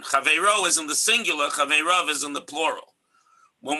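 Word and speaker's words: חבריו: chaveirav is in brackets because it's pronounced chaveirav, but it's written in the Tanakh, the way the tradition, the Masorah, has the scroll written, is that it's written without a yud, so it looks like chaveiro, his fellow.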